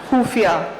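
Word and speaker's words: ख़ुफ़िया: खुफिया। खुफिया, खत्म। क्या बात है, खत्म। खाली आपने खुफिया बोला, मैं तो खत्म हो ही गया।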